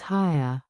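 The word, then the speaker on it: Haigha: His name is Haya." He pronounced it so as to rhyme with mayor.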